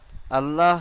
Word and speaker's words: আল্লাহ: চলুন তাহলে আল্লাহ শব্দে লামের আগে জাবার পেশ এলে পুর আর জেরেলে বারিক।